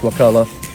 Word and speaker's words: Wakulla: lodge at wakula Wakulla even the manatees know it's Wakulla you say it wrong every time am I ever going